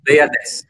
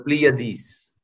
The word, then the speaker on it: Pleiades: na yon ang pangalan niya ay Pleiades or Pleiades, no? Whichever pronunciation you prefer, no?